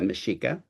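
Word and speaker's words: Mexica: indigenous dominion by the Mashika/astc Empire X's are pronounced as sh's so they're the Mishika um commonly all of you know them as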